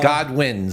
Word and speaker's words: Godwin: the second O is silent. Yeah. All right. So God wins.